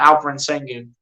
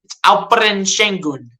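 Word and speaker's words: Alperen Şengün: halftime alen shun yes I do know how to pronounce this right it's not alen sengun Al shun what is shingun where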